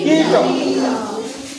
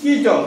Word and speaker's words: কীট: দীর্ঘই মানে একটু ইটা বেশিক্ষণ ধরে উচ্চারণ হবে। কীট, কীট, কীট, কীট মানে কি?